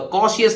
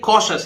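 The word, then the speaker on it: cautious: तो देखिए कॉशियस, कॉशियस है ना, तो कॉशियस नहीं है, ये कॉशस है।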